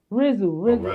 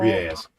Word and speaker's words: Riaz: Rizzle. I said his name wrong. Riaz.